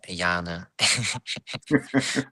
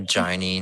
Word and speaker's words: Jana: Jana, if no one of you knows how to pronounce my name, it is Jana. not not Jarny, not Jarn.